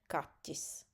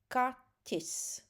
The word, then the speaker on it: kaķis: Mums ir kaķis. Ķ. This is how it pronounced. It is not easy. I understand. This is kind of a little bit super soft t. Kaķis, right? Not kaķis. Kaķis.